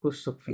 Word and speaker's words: couchsurfing: শেষের আয়েন কিভাবে উচ্চারণ করবো ফিং ফিং ইংরেজিতে যেভাবে করেন সেভাবে কুসুকফিং।